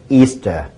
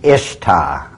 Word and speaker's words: Ishtar: semaramus as the goddess Easter now a lot of people think it's pronounced Ishtar i-s-h-t-a-r people check the Babylonian tell mode once again it is properly pronounced this very day Easter and accordingly as The